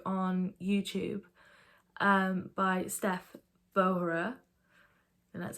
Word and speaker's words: Vohra: found this video on YouTube um by Steph vohra and that's how you say her name um